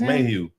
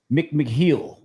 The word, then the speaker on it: McMahill: That's McMahon.